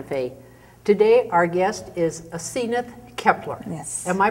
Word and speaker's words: Asenath Kepler: to living Santa Fe today our guest is aith Kepler yes am I pronouncing that correctly you are thank you where